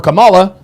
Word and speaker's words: Kamala: Well, I didn't vote for Camala. We know you're telling the truth because you pronounced her name the right way.